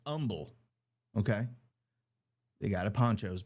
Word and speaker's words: Humble: And I learned how to say it's not Humble, Texas. It's Humble.